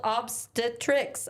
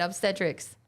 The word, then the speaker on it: obstetrics: surgical specialty focused on pregnancy is called obstetrics. Oh, that's what I just said. Obstetrics. Obstetrics. Yeah. Thank you. Yeah. I was putting the emphasis on the wrong syllable.